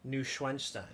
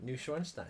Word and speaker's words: Neuschwanstein: Neuschwanstein. Okay, good. One more time. Neuschwanstein.